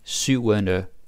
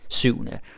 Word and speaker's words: syvende: Then syvende, which is pronounced this way, syvende, if you say it fast, syvende.